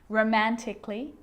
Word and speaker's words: romantically: Now, the letter A can be silent, especially in words that end in A-L-L-Y, like these. Romantically, musically, logically. So I'm not pronouncing romantically, musically, and logically. Cut the A out. Get rid of it.